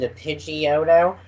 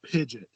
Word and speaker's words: Pidgeot: of office in - pidgeotto and Pidgeotto evolves into Pidgeot which i know that is the correct way but do you remember people saying pinch it somebody I know still says pigeon which they said that